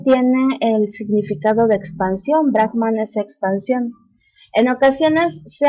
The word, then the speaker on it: Brahman: Los conceptos filosóficos más importantes de las Upanishads son la idea unificadora de Brahman y Atman y el concepto del karma. Ahora, Brahman, mal pronunciado por nosotros como Brahma, es el fundamento, la